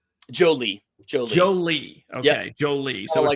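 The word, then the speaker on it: Joly: So, instead of Jolene, it's Jolie. Yeah. But Justin Jolie is somebody that, you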